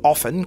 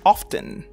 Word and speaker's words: often: l'usage de l'adverbe of il a deux prononciations vous pouvez dire often comme je l'ai dit ou often dans une phrase t que